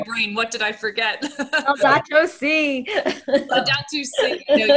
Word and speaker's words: Laudato: Is it Laudato or Laudato?